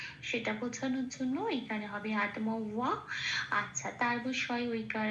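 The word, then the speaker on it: আত্মা: সংস্কৃত ভিন উচ্চারণ করব আত এটা একটা যুক্ত অক্ষর তয় আছে তটা আগে আছে হসন্ত লাগিয়ে তটাকে বার করে আনবো আগের অক্ষর আয়র সাথে জুড়ে উচ্চারিত হলো আত মটা যেমন আছে পূর্ণরূপে উচ্চারিত হলো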